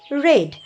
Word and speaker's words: read: এটা আমি লিখে রেখেছি রিড এটা দেখো বাংলা লিখেছি এবং তারপরটা যেটা রয়েছে আর এডি একই রকম স্পেলিং বাট এর উচ্চারণটা হচ্ছে রেড আই রেড ওকে আচ্ছা